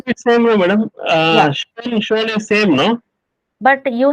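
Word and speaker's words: schon: And without umlaut also we have a particle, like here I have given shon, simply shon.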